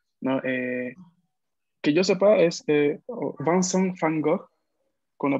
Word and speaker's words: Vincent van Gogh: Fango, no, porque la V en ¿cuál es el idioma? Perdón, holandés, no me acuerdo. Sí. Se pronuncia como una F del español, entonces sería no como Vincent van Gogh, algo así, o Vincent van Gogh.